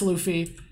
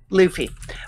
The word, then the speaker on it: Luffy: how stupid is it how do you pronounce is it Luffy Luffy Luffy yeah Luffy where he says Luffy is probably the biggest idiot there.